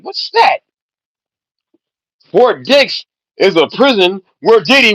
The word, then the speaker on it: Fort Dix: Fort Dicks is a prison where Diddy wants to go. What a coincidence. But it's spelled D I X. Fort Dicks.